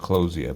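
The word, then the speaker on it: Clowesia: it was Mr Clos so it should be pronounced kosia but anyway semantics two gross on mikab plus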